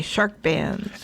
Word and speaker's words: SHRKBANZ: Oh, Shark Bands. Yes. Not bands with a D. SHRKBANZ is how it's spelled. Okay, Shark Bands.